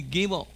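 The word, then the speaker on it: גימל: Now the gimel is also a begat ketfat letter, but today the gimel with or without the dagish is pronounced the same. Without the dagish, it used to be pronounced ge, ge.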